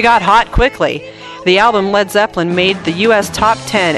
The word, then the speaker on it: Led Zeppelin: So, we changed our name to Led Zeppelin. But we spelled lead as L E D so the Americans won't mispronounce it as lead.